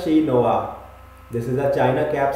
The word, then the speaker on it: chinois: Next up is chinoise, which is a Chinese cooking equipment. It is pronounced as shi noa.